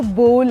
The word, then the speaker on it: bowl: वो कटोरी होती है ना जिसमें हम खाते हैं, BOWL, वो बाउल नहीं है, वो बोल है।